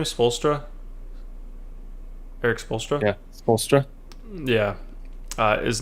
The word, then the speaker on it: Spoelstra: do you say his name is folster eric spoelstra yeah yeah uh is not pop he doesn't